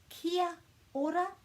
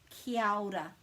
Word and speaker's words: kia ora: what they're doing is they're missing out this a you can't miss out any letters in te reo maori there are no silent letters so it's either kia ora or it's kiyada and kyoda is just joining those two middle vowels together and that's what you'll